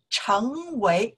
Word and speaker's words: 成为: In that case, 成为, we pronounce the second tones, 为, 为, 成为, to become. We can say, why? 为什么? We pronounce four tones, right? You really know that because it's from before. We already learned that, okay? So, 成为, we don't say 成为, okay? 成为, second tone, to become.